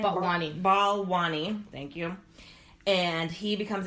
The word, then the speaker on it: Balwani: Balwani.